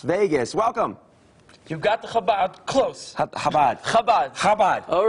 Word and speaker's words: Chabad: You got the Chabad close. Chabad. Chabad. Chabad. All right. Hanukkah. Am I pronouncing it correct?